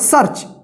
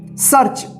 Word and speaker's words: सर्च: और यहाँ पे च, तो देखिए स के बाद आधा र का उच्चारण होगा र और यहाँ पे च, तो क्या होगा सर्च। इसको सरच नहीं पढ़िएगा, ठीक है, ठीक है।